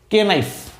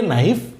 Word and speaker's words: knife: ওকে, এই শব্দটিকে দেখেন, KNIFE, স্বাভাবিকভাবে এর উচ্চারণ হওয়ার কথা ছিল কেনাইফ, কিন্তু দুঃখিত, এটি কে নাইফ নয়, এই শব্দটি হচ্ছে নাইফ।